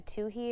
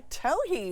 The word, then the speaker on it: towhee: Okay, what about, how do you say this one, a towhee or a towhee? A towhee. Towhee.